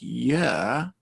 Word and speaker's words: year: of a vowel sound so be careful to make year the period of time at rhyme with her for her it lasted a year so yeah starts with a very very little very short e but most of the word is the long er i've been doing this